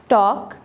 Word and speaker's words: talk: पास W silent है, talk ठीक है यहाँ पे हमारा L silent है, walk again L silent